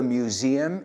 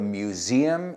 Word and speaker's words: museum: Would you mind to tell me where the museum is? Y fijaos en la pronunciación. Museum. Museum. Hay un sonido z ahí por medio.